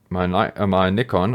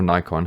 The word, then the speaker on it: Nikon: And so I wanted to connect my Nikon, or Nikon, however you prefer to pronounce it, camera to slobs, and it totally works.